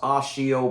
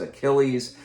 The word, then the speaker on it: Achilles: that his old nemesis achilles which is pronounced oshio but i still read in my head as achilles is behind this but